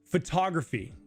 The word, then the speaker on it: photography: So when we speak in English, we put stresses on words. So photography. So this word, this syllable I should say becomes louder and longer. Photography. It's louder and longer than all the other syllables in the word. And say we put the stress on the first one like fu, it would be photography. Photography. Photography. But it's photography.